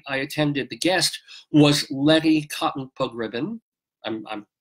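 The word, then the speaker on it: Letty Cottin Pogrebin: attended the guest was Lettie cotton Pogrebin I'm nobody can pronounce that right it's lady tongue Pogrebin who helped co-found MS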